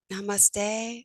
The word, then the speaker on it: namaste: It's something like namaste, or you got it.